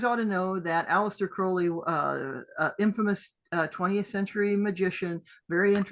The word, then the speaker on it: Crowley: Now, I don't think that Crowley, and he'd always say Crowley rhymes with holy, and no one, yeah, okay, fine, whatever.